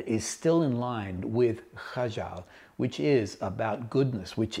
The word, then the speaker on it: Kajal: He discovered very quickly that a lot of people were struggling to pronounce the kh sound in Kajal, so he dropped that H and now made it Kajal.